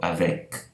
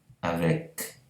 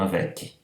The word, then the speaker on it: avec: E lembrando sempre, quando a consoante final é pronunciada, a gente não coloca o i como a gente faz em português, em palavras como Unicamp, FAPESP. Então, avec, avec, e não avec.